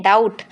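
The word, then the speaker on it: doubt: सो एक चीज आप ध्यान रखेंगे। कभी भी अगर बी और टी अगर टी से पहले बी आता है तो हम बी को साइलेंट रखते हैं। इसलिए इसको पढ़ते हैं डाउट।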